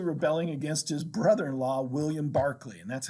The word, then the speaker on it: Berkeley: against his brother-in-law william barkley and that's how again how you say his name i know it's spelled berkeley but you pronounce it barkley and nathaniel bacon says